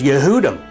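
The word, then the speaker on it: יהודים: transliterated in Hebrew for Jew in English is pronounced yehudi and the word Jews is yehudim and so the case is made that this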